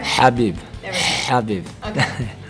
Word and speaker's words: Khabib: where I asked you if it's Khabib or Habib, and apparently both of those are wrong. That doesn't matter. Say it correctly for everyone out there. Habib.